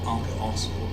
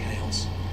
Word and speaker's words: ArcaOS: once it's released and that's going to be ARA OS so I'll try and remember to use that name from now on and that's how it's pronounced not araos or Aros it's ARA OS it's a full os2 implementation